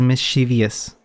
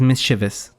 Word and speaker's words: mischievous: By the way, this word, my whole life, I pronounce it as mischievous. It's mischievous. Okay? Don't make the same mistake I did and get beat up by the literature nerds.